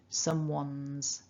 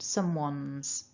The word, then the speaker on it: someone's: And the way that we pronounce that, because someone ends in the n, the N sound, that S then becomes voiced. So someone's, so it's an uns at the end, someone's.